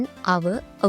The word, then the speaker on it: hour: ඒතර මෙතනදී අපි දැම්මා an hour ago කියලා. ඇයි අපි මෙතන an කියන එක දැම්මේ? hour කියනකොට pronounce වෙන්නේ ආ කියන sound එක.